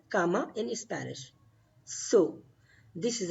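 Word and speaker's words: cama: bed is called comma comma that is called comma in Spanish so this is a bad you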